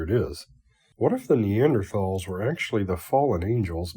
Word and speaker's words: Neanderthal: be pronounced Neanderthal but if you want people to pronounce it that way don't put an H in it I'm going to say